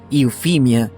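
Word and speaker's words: Euphemia: habla bien o elocuente y se pronuncia infinia en inglés era un nombre popular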